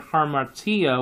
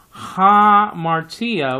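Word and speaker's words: ἁμαρτία: then you're gonna be sounding off the Alpha just like you sounded off in the Greek word harm attea which means sin you just caught me there saying ha with an H that is because it is rough breathing okay so you have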